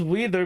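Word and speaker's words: Weider: was in Grand Turismo weather systems what is wider R we i d e r you pronounce it as wether but yep you're correct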